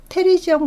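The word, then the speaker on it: pterygium: 네, 테리지엄. 이 피는 묵음이죠. 그래서 테리지엄 같은 경우는 여기 나와 있다시피 이렇게, 예, 우리 학생들이 보기에도 얘가 날개처럼 보이나요?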